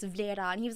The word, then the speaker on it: Vlera: I was like, yeah, technically no one says my name right. And he was like, well, how do you say it? And I'm like, well, technically it's Vlera.